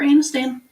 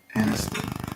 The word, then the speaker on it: Aniston: Jennifer Anistan. Aniston.